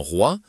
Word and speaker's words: roi: Mais dans roi, la combinaison o i forme un son unique proche de wa.